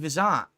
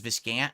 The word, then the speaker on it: Vizant: Never did I have a beef with Vizant. His name is Vizant. Everyone says Viscant because no one remembers to pronounce it like Vizant.